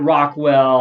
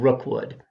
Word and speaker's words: Rookwood: I started calling it Rockwell. I started calling it Fall of the House of Rockwell. But really, what I meant to say is The Curse of the House of Rookwood.